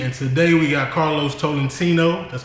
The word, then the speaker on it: Tolentino: It's Chief Takes Films, Borntopoketv, and today we got Carlos Tolentino. That's how you say it, right? Tolentino.